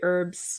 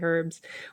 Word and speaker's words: herbs: up some herbs herbs americans say herbs we south africans say herbs we're not trying to